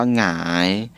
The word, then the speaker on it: หงาย: และ ก็ ย ยักษ์ แต่ เรา จะ ไม่ อ่าน ว่า หา งาน นะ ครับ เพราะ ว่า นี่ เป็น อักษร นำ นะ ครับ จะ อ้าง ว่า หงาย และ ก็ เหงื่อ เหงา